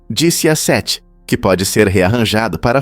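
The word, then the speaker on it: diciassette: Em italiano, 17 se pronuncia disse a sete, que pode ser rearranjado para formar a palavra VIX, que significa eu vivi.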